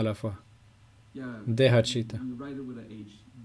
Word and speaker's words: Deha: Deha, Chitta. On écrit avec un H. D-E-H-A. Mais en espagnol, on écrirait Dehe, Jota, Ha. Ok, je comprends. C'est juste pour clarifier la prononciation.